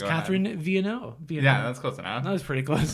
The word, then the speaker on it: Vienneau: I would say like the way to pronounce it is like V the letter and then n the letter and then o pretty easy I realized